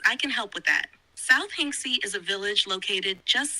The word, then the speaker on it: South Hinksey: walked to Carfax through South Hingsky with great enjoyment. I presume that these are street names. South Hinksey. Yeah, I said it wrong the first two times. South Hinksey.